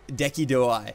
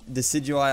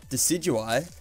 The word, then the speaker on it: Decidueye: And then you got I like to call it Deki Dewai. I know it's not how you say it, but that's my little nickname for Decidueye. I believe it's called Decidueye.